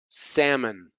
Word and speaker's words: salmon: How about the L? Half, walk, could, salmon.